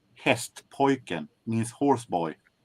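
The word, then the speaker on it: Hästpojken: And for those of you who wants to know, the name is pronounced hest poin means horse boy.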